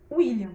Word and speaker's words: William: William escrito com U, mas o W tem o mesmo som de U. Então, quando você pronuncia o nome William, você não fala W, né? Você vai pronunciar o nome dele, William.